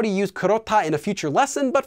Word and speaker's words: 그렇다: an example of that kurota pronounced as kurota due to sound change rules which means to be